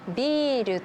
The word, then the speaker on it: ビール: 例えばビールとビル、おばあさんとおばさん、おじいさんとおじさん。最初に言った言葉は長音が入っています。